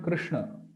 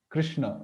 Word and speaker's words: Krishna: So especially while pronouncing this sh, the tongue, it touches the palate, then the cerebral. So while pronouncing this sh, the tongue must take a twist, and it should touch the cerebral, then the palate.